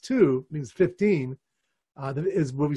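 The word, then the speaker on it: ט״ו: So every month you can see now, the 15th of Shvat, Tu B'Shvat, in Hebrew, Tes Vav, the letters Tes Vav, which can be pronounced two, means 15, is where we celebrate the birthday of the trees.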